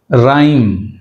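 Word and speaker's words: rhyme: అంతేగాని జిహెచ్ రెండు సైలెంట్ ఇక్కడ రైమ్ రైమ్ right H silent రిథమ్ రిథమ్ ఇక్కడ కూడా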